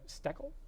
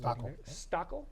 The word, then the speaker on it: Steckel: City of Titusville, seat 2, Sarah Steckel is Stockel. I've been saying it wrong all night.